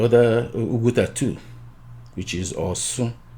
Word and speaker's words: Osun: That's the right name. Why it should be the right name or right pronunciation is because they moved from the area, the original place at where they call Oshun today, during when Caesar and